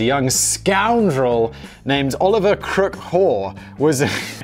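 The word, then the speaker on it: Haugh: During the winter of 1886, a young scoundrel named Oliver Crook Hoare was, it's spelled H-A-U-G-H, but Oliver Crook Hoare.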